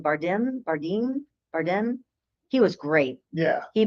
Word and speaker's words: Bardem: Bardem.